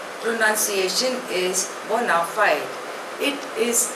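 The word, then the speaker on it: bona fide: become अ good dancer next word is बोनाफाइड spelling is बी ओ एन ए एफ आई डी E pronunciation is बोनाफाइड इट इज अ Latin word it means in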